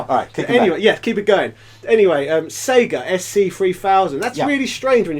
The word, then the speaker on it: Sega: Anyway, Sega SC3000, that's really strange when you think about it.